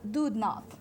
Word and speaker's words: Doodnauth: Doodnauth.